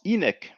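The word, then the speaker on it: ꜥnk: middle egyptian middle nature i am will be pronounced enoch and i've made a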